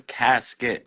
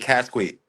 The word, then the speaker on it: Kassqit: it, you can tell it clearly says Casket, like Casket. casket. Yeah, Like yeah, if Siri pronounced that shit, if Google AI pronounced that, they'd be like, they would think it says casket. That's what they'd be like, Casquate.